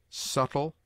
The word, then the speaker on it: subtle: y of consonants B B has one unvaried sound such as it obtains in other languages it is mute in debt debter subtle doubt lamb limb Dum